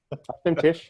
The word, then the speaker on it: auf dem Tisch: And so I think that's my tuchus on the auf dem Tisch, is that how you say it? Yeah. Auf dem Tisch, yeah.